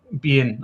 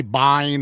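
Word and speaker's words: Biehn: How do you pronounce Bean? We say Bean in Scotland. I hear people say Bean. Bean. Bean. Bean. I've heard I've heard people say bine.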